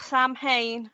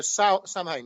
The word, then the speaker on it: Samhain: She says, "How about explaining to the listeners all about Samhain and what it means to us witches?"